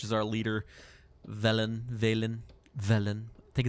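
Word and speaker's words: Velen: our leader Valen Valen villain I think it's I think it's technically pronounced vellum okay I went way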